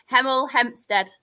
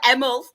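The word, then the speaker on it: Hemel Hempstead: Third, we have This will be funny because I can never pronounce my H's. Heml Hempstead. There we go. Sounded quite posh then, didn't I? It's usually emlstead.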